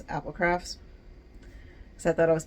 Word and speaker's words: Applecrafts: And so that doesn't really work because people still call it APL crafts. So that's why there's a parenthesis that says Applecrafts, so that you know how to pronounce Applecrafts.